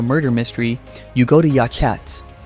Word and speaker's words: Yachats: or solve a murder mystery, you go to Yachats. Pronounced "Yahots".